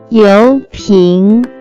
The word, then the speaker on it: 油瓶: First character is 油 pronounced with second tone.